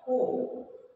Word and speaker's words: Gogh: It was painted in 1889 and the person who has painted this painting is Vincent van Gogh. This is pronounced as Ho.